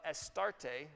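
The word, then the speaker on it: Astarte: eth Bale Jezebel's dad as the priest of estarte is the way it's pronounced a Canaanite goddess of fertility and reproduction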